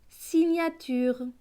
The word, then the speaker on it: signature: Donc ce mot va se lire si, gna, tu, re. Signature.